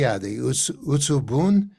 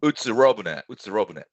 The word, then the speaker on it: Utsurobune: cases are the Utsubun. Is that the correct pronunciation? Utsubun? Utsurobune.